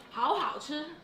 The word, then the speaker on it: 好好吃: If very delicious, you say 好好吃. Oh, dude. Oh. Yeah. 好好吃 means very delicious.